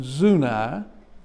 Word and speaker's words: Zuni: of wight county in zunai notice how i pronounce it it's not zuni but it's zuna uh there's not much